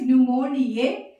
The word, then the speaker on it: pneumonia: And here only A will come, E will not come here, because the organism name is pneumoniae and the disease name is pneumonia. The P is silent.